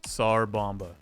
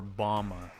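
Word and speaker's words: Tsar Bomba: Congratulations, Sar Bomba. Is it bomba or bama? Like sarbama. Sar bomba. It's spelled bomba.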